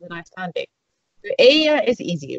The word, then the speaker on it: Eyja: So if you say Eyja, Eyja, that means island.